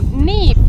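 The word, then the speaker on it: Niamh: example I asked Mark so neef is it like n-e-v-e and my reply was no that it's actually n-i-a-m-h some other names we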